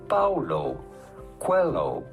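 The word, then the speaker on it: Paulo Coelho: how to pronounce that how do you go about pronouncing his name Paulo Quello Paulo pretty straightforward once you know Paulo hello Quello Google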